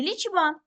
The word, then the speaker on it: лічба: кількість складів у слові лічба так два склади ліче ба даємо характеристику кожному складу але перед тим визначаємо наголос так наголос на а даємо характеристику кожному складу